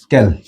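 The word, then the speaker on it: quelles: double L ও এস ক্যাল আচ্ছা এই প্রত্যেকটার উচ্চারণ কিন্তু এই ক্যাল ক্যাল এই ক্যাল প্রত্যেকটার উচ্চারণ কিন্তু একই কল কল অর্থাৎ প্রত্যেকটার উচ্চারণ হল কল তো এই উচ্চারণ এবং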